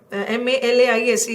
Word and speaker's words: malaise: This is the pronunciation of M-A-L-A-I-S-E is malaise, and this is malice.